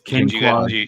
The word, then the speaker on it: Quinquagenario: Quinquagenario. Did I say that correctly? It's Ken, like Barbie and Ken. Qua, like the Quan. Oh, okay. Scenario. Okay. Quinquagenario. It's Quinquagenario. You gotta go like this.